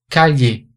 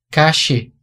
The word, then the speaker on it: calle: Na Espanha, a pronúncia dessas palavras seria bombilla, calle, llover.